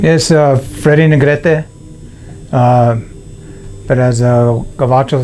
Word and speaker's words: Negrete: told your name what your name is Freddy Negrete but as a coatl say Freddy Negrete it rhymes like that how are you I'm 6363